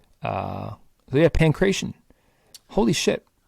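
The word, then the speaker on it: pankration: is pretty much correct the sport was called pancreation p-a-n-k-r-a-t-i-o-n is how we would spell it in english uh yeah pancration holy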